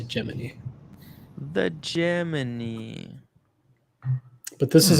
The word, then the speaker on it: Gemini: You pronounce it Gemini or Gemini? I used to pronounce it Gemini until I started doing a lot of research into it, and they call it Gemini.